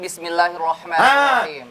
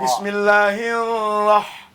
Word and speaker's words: Bismillahirrahmanirrahim: Jadi tarkik kalau dia berbaris kasrah namanya tipis. Iya. Kalau dia berbaris patah tebal namanya tafkhim. Oke. Memang cerdas Seperti betul. pengucapan Bismillahirrahmanirrahim ya. Bukan roa. Bukan roa Oh lagi. iya roa. Iya. Bala roa. Oh iya. Ro. Ro. Bismillahirrahmanirrahim. Jangan hirrah. Tidak boleh.